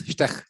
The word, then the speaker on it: Štek: He's František Štek. Am I pronouncing it correctly? No. More or less. Štek.